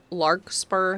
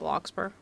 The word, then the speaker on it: Larkspur: It's larkspur, not lockper.